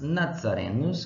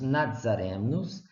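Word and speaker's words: Nazarenus: para última das palavras a letra z em latim se Lia zetta ou seja era pronunciado sempre construção de como se tivesse um de antes da decisão Z o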